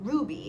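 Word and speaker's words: RWBY: real world it's a real anime series called ruby it's I think it's spelled RW BY but it's pronounced Ruby and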